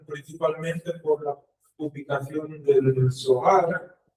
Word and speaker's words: Zohar: por la publicación del Zohar, o Zohar. Yo me gusta pronunciarlo como Zohar, como es en hebreo. Zohar.